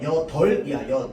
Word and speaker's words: 여덟: 밑에 리을 비읍 봐 봐. 여덟. 자, 그럼 얘는 리읍이 발음대요, 비읍이 발음돼요? 여덜이야.여 덥이야. 덜이죠. 덥 잖아. 비읍 받침 발음 안 한단 말이야.여 덜이야.